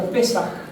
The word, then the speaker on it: Pesaj: La palabra Pascua viene del idioma hebreo, que en hebreo se pronuncia algo así. Yo no sé nada de hebreo honestamente, pero es la palabra Pesaj o Pesaj.